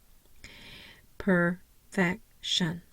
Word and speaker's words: perfection: of the vowel sounds Perfection now my uh primary stress is on the second syllable I have no secondary